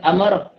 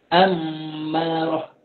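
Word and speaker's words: أمّارة: Dalam bahasa Arab bukan amarah, sabdu. Mim itu sabdu. Amarah.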